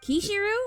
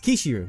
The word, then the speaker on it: Kishiu: Kishiru. Yeah, it's Kishiu. You started saying it wrong now.